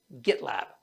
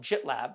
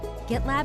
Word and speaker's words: GitLab: one of our sponsors gitlab i'm told it is not pronounced jitlab but i'm not willing